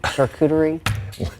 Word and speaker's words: charcuterie: wine and charcuterie.